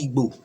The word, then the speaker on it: Igbo: But the real pronunciation of the word Igbo is Igbo. IGBO.